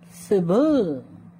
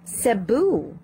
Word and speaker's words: Cebu: practice some of the words you mispronounced okay yes okay please repeat after me lily hello mr lee yes just repeat after me lily one more time lily okay that's better cebu cebu again please cebu cebu okay that